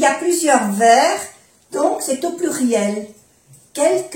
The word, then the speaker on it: verre: Quelques está en el plural porque hay varios vasos y hay plusieurs verres, donc c'est au pluriel. Quelques verres et quelques tasses. Verre, no se pronuncia la E y la S es del plural.